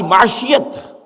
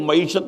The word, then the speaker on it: معیشت: دین اسلام ہے، ہماری معاشیت سوشلزم ہے، وہ معیشت نہیں کہتے تھے، معاشیت کہتے تھے، صحیح تلفظ نہیں آتا تھا انہیں، اور ہماری